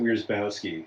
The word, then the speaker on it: Wierzbowski: Plus, you pronounce it Wierzbowski, so just so everyone knows.